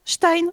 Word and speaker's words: Stein: Et ça se prononce Stein en allemand.